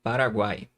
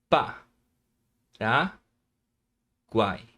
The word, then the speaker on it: Paraguai: Por exemplo, na palavra Paraguai. Vamos separar? Pa, ra, guai. Paraguai. Olha só. Guai. Você consegue notar o som do U, o som do A e o som do I também.